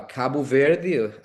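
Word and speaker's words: Cabo Verde: Uh well um I'm originally from uh Kabu Ver country on the west coast of Africa and US you guys say Cape Verde. So even though the name is very similar to uh Spanish but the the pronunciate pronunciation there is is different.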